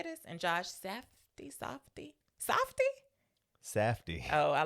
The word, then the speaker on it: Safdie: And Josh Safdie. Safdie. Oh, I like Safdie better. Safdie. Maybe it is Safdie. I don't know. I feel like I've only heard it said Safdie.